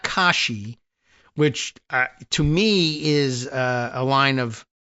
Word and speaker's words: Kashi: Uh if the AI answer from Google is to be believed, uh Kashi, not Khi, but Kashi refers primarily to is this right?